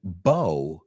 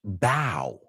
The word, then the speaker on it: bow: And that is that the word bow can also be pronounced bow.